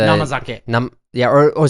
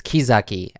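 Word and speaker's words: 生酒: Like the namazake. Sorry, I pronounced that incorrectly. It's kizake. Kizake, actually. Kizake. Kizake. Not namazake. No. It's the same kanji, but it's pronounced ki.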